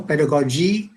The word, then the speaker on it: pedagogy: I think you pronounce it pedagogy or pedagogy. Vibhuti, you'll have to correct me, whichever way. I think I would go with goji, as in logi and all those. Okay, so it's pedagogy.